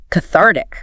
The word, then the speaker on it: cathartic: Cathartic. Cathartic. Cathartic stress onar.